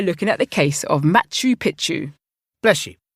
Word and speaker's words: Machu Picchu: Athena, if you like, I could just look into the case of uh Machau Pikachu. It's pronounced Machu Picchu.